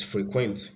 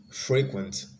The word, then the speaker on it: frequent: madam see frequent frequent these frequent is actually the verb version so it's frequent if it was the adjective it would be frequent last that was going